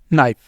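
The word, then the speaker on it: knife: हुआ करेगा ये साइलेंट के इज साइलेंट बिफोर एंड के इ साइलेंट बिफोर एन कैसे यह देखें जी now knowledge नाइफ नी नॉट तो यहां पर सारे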